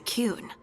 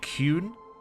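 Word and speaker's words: Qun: Yeah, also, I have been brought up on my pronunciation of the Kun, because apparently it should be the Kun, not the Kun.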